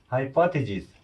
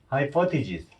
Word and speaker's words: hypothesis: 마찬가지로 예, 가설도 좀 힘들죠, 발음이. hypothesis. 예, 좀 틀리네요. 저혈압. 예, hypothesis.